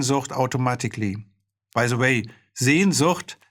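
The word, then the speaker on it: Sehnsucht: automatically by the way sien zhut which means longings is a word that americans really have an awful time trying to pronounce when they say it it sounds like chainsaw that's kettenseger in german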